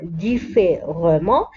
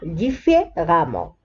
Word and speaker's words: différemment: لاحظوا أن هنا R بعدها E ولكن لا نقرأ différemment نقرأها différemment. Donc si l'adjectif se termine